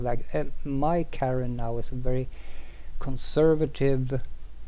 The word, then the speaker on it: Carenne: it's cool uh okay her name is karen but she's a breton so you spell it oh in a breton fashion uh kind of french sounding i haven't thought of